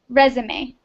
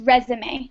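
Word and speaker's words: résumé: and this is a resume yes the pronunciation is resume not resume ah resume okay so yes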